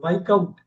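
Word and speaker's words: viscount: இது என்ன பண்ணுவாங்கன்னா, அந்த எஸ் கட் பண்ணுவாங்க. வைக்கவுண்ட், வைக்கவுண்ட், வைக்கவுண்ட்.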